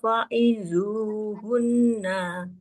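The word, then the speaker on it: فَعِظُوهُنَّ: Kalau wakof baru dibacanya fa'izuhun. Tapi kalau dilanjut, tetap nunnya dia harus dengan kondisi fathah.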